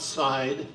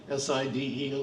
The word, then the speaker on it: Side: It's not Side, S-I-D-E, it's the way it's spelled, but we pronounce it Side here in Turkey.